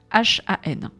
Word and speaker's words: Han: Je crois qu'il faut pas prononcer le H, il faut Han. Je crois que c'est comme ça que ça se dit.